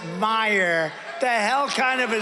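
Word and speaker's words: Meijer: of the ten impeachers a guy who spells his name m-e-i-j-e-r but they pronounce it meyer the hell kind of a spelling is that meyer it's major but it's actually pronounced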